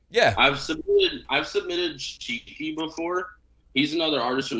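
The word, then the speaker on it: Chiqui: artist say his name one more time it's cheeky so it's c-h-i-q-u-i and i think he's got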